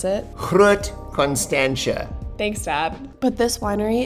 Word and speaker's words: Constantia: just have my dad come on here and pronounce it Constantia thanks Dad but this Winery is one of